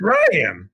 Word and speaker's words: Rian: okay homie I think his name is pronounced Ryan yeah like I'm saying